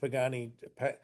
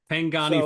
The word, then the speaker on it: Pangani: spaces like Harambe Trail, Harambe Village and the Pagani Pang I never pronounce it right. The Forest Trail. Um Pangani Forest Exploration Trail, now known as Gorilla